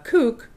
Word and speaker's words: CUC: Is it CUC or kook? Kook. I don't know how to say it. CUC is like the symbol. Right, and it's kook. It's pronounced kook.